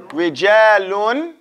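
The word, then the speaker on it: رجالٌ: Rijalun. Say rijalun. Because there's nothing here, so we have to pronounce the tanween clear, right?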